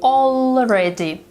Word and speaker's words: already: As you can hear, she says already instead of already. The sound L is a dark L. It's pronounced like this, already.